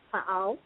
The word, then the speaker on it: Pa'al: The head of the Galactic Federation of Planets is, in fact, Pa'al, as was mentioned before. His name is spelled P-A''A''L.